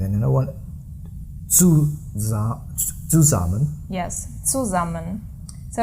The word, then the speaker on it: zusammen: With buzzing S. Yeah, the S is always buzzing when a syllable begins with it.